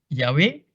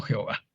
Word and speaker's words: Yahvé: Sin embargo, por la tradición judía, parece ser que más probable es que se pronuncie Yahvé y no Jehová.